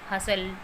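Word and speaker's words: hustle: में है और वो टी के बाद है, टी उससे पहले है तो वहाँ टी साइलेंट रहता है। For example कैसल, कैशल, we shall, हसल। तो यहाँ पर वर्ड के लास्ट में एल ई है और उससे पहले टी है तो ये टी यहाँ पर साइलेंट है।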